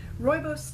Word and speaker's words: rooibos: tea rooibos tea I found out how to pronounce that I learned that at the tea festival rooibos tea coconut pieces natural almond essence love and